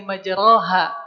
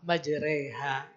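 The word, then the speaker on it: مجريها: Tulisannya di surah Hud ayat yang ke-41 adalah bismillahi majroha tulisannya. Tapi bacanya bismillahi majri ha wa mursyaha ya bacanya re biasa aja ya fathah yang dikasrahkan alias e pokok mah gampang n mah majreha ya dan ini hanya ada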